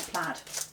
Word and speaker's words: plaid: I think Stampin's heard me say it's plaid, not plaid. Plaid rhymes with braid.